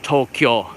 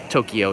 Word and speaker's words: Tokyo: deeper markets of Tokyo pronounced in two syllables Tokyo is the proper way to say to the city but Tokyo is fine too I think that guys